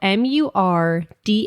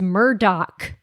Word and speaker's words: Murdaugh: the family is that the name is spelled Mur d a u g h should be murd but it's Murdoch that is the weirdest I